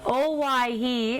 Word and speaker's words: Owyhee: it out please yes it's actually a take on hawaii it's another pronunciation oh why he is in idaho in